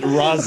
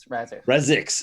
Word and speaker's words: Razix: Lieutenant Razis, Oh, which God. I don't remember how to pronounce it. Razis? Razix.